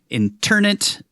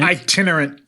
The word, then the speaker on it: itinerant: This uh nursery rhyme refers to priest holes um which were hiding places for internate. Is that how you say it? An itinerant.